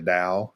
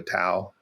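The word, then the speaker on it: Tao: book is really engaging the Dao or the tau t-a-o is how it's spelled um and that's complicated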